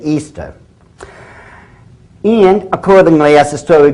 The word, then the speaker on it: Ishtar: Now, a lot of people think it's pronounced Ishtar, I-S-H-T-A-R. People check the Babylonian Talmud. Once again, it is properly pronounced to this very day, Easter.